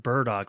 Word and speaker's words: Bardock: No, because he like it's that look on his It's pronounced burdock root, but yeah.